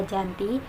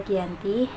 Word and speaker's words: Giyanti: tempat penandatanganan perjanjian di desa Janti yang dalam pelafalan Belanda terbaca Giyanti dan sekarang lebih dikenal